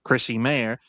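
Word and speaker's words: Chrissie Mayr: I'll quote tonight's Chrissy Mayor at Chrissy Mayor. That's how you pronounce her name.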